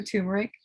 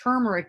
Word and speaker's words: turmeric: friend was there she had this beautiful blue tumeric tincture like i said um it's actually pronounced turmeric you guys like t-u-r-m-e-r-i it doesn't really matter